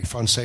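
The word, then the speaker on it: Français: It's just like Francais. Francais is a soft French is a soft C.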